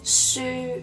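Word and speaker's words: 書: lines and it is book in Cantonese the pronunciation is sure move on to the last one which is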